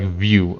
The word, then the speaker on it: Vyl: While here is set like view. Oh, that's interesting. So literally VYL is pronounced view.